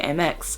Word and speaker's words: Amex: time you use your amex for that um or amex however you like to pronounce it i like to say mx i'm so used to